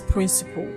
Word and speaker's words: principal: This word and this word are homophones. They're pronounced the same way. So if you can pronounce this word as principle, then you should also pronounce this word as principle because they are homophones.